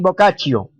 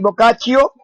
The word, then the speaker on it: Boccaccio: boccaccio o giovanni boccaccio pero creo que se pronuncia giovanni boccaccio tirón italiano muchachos escritor italiano considerado el